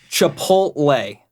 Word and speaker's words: Chipotle: The worst thing, and this is what I tell everybody, is like, so Chipotle. That is how it's pronounced.